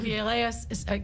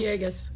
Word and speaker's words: Villegas: Alderman Villegas, I'm mispronouncing his name. Villegas. Thank you.